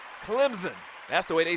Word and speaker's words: Clemson: and it is pronounced Clemson the S kind of sounds like a z Clemson that's the way they